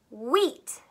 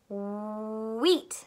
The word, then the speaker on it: wheat: does it say yeah the h is silent it doesn't say anything so it really just says wha eat wheat wheat so get your mouth